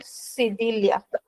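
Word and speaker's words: cedilha: So this accent which looks like a comma comes under the letter C is called cidilia.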